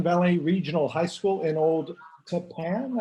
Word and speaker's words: Old Tappan: Brooke Zelser teaches English at Northern Valley Regional High School in Old Tappan, I think you told me is how you pronounce that.